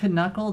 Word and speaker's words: knuckle: know easy random for knuckle the K shouldn't be pronounced you are very right